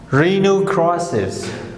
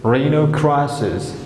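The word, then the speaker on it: rhinoceros: Rhinocrosses. Rhinocrosses. Rhinocrosses. H is silent here.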